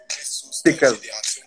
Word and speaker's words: Tekaz: Tekaz. Tekaz, je ne savais pas si on prononçait le T ou pas. Ouais, si on le prononce.